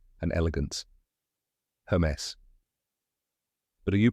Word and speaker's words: Hermès: A lot of people say it wrong, like Hermes or Hermes. But now you know it's Hermes.